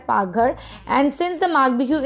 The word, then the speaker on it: Paghar: Kitchen in Assamese is known as Paghar. So it is the tone we used to spell like that. It is known as Paghar. You can pronounce it. So in Assamese we call the kitchen as Paghar, and since the Maagh